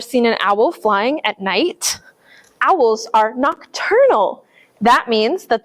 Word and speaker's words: Knight Owl: It's kind of funny because it sounds like night owl, like owls being up at night, but it's spelled like a knight in shining armor.